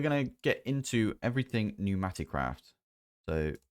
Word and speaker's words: Pneumaticraft: Anyway, today we're going to get into everything Pneumaticraft. So, and it's spelled with a P, by the way, at Pneumaticraft.